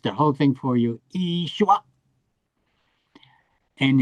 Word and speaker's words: Yeshua: Yeshua. And in Hebrew they just don't uh make the yod a vowel, but it is in Aramaic. They say Yeshua. But Yeshua. Okay, so it's Yeshua.